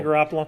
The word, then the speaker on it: Garoppolo: The eye tie, Jimmy Garoppolo. Jimmy Garoppolo.